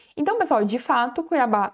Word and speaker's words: Cuiabá: Pessoal, qual que é a sílaba mais forte dessa palavra? É o ba, ou seja, a última sílaba. Então, pessoal, de fato Cuiabá é uma palavra oxítona